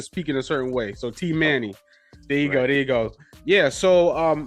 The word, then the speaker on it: Teemanay: So for the listeners, because I know I definitely said it crazy, pronounce your name correctly, so I make sure the listeners can say it right. It's Teemanay. Teemanay. Right. Yes. Teemanay.